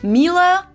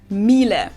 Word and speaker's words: Miele: And it's not exactly pronounced wrong in English, but English native speakers usually say something like Miele. So it usually sounds more like an A in the end, whereas in German we say Miele.